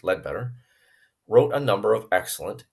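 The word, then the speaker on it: Leadbeater: to understand but Charles lead better pronounced lead better wrote a number of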